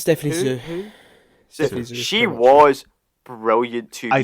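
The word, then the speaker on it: Hsu: Is it how do you pronounce? Stephanie Who? Sue.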